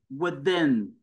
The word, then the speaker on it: within: vẫn chưa with living within nh with là nhấn âm thứ hai living within B cô